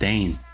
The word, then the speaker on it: Dein: Oh, his name is pronounced Dein.